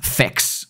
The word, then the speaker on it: PHEX: They have it as PHEX. Now, there's also, it's pronounced FEX on there, right?